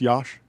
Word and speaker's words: Yash: Am I pronouncing that correctly? It's Yash? Yeah, Yash is fine.